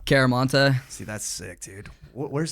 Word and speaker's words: Chiaramonte: show before oh yeah i was gonna try your last name but i'm scared i'm gonna butcher it man how do you say it it's a cool name though caramanta see that's sick dude